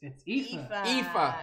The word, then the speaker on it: Aoife: Could the crew pronounce it, since my fellow Americans argue on the pronunciation? So it's Aoife. Aoife.